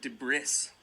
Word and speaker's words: debris: letters okay so look at this D bris debris the breast look at this silent s debris did you get it right